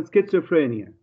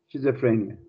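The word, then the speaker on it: schizophrenia: إلى حد ما خاطئة هي تلفظ أساسا سكيزوفرينيا هيك باللغة الإنجليزية الصح، لكن تقبل على قاعدة سكيزوفرينيا، لكن ما بنقبلها شيزوفرينيا.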